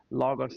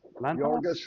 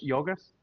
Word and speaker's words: Yorgos: Bugonia, which is the 2025 movie with Emma Stone, directed by, I can never pronounce his name, Logos Lanthimos? Yorgos Lanthimos. Yorgos?